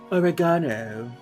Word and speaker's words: oregano: Or if you're a fancy British person, you say oregano.